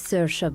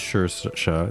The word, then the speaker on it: Saoirse: This is Saoirse Byrne.